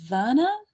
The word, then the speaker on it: Werner: The first female finisher was Luisa Werner. It's German, so I think the W is spelled like a V.